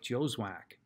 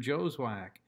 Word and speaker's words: Joswiak: my name is joswak i don't care how it's spelled that's how you say it mr joswack that's my story and